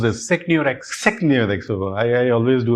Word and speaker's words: SecneurX: How do you pronounce this? SecneurX.